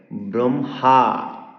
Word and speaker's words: ব্রহ্মা: হচ্ মূল কথা হচ্ছে যখন হর সাথে নাসিক্য ব্যঞ্জন যুক্ত হবে তখন হ এর উচ্চারণ নাসিক্য ব্যঞ্জনের পরে করতে হয় চিনহ ব্রাহ্মণ ব্রহ্মা গৃহাতি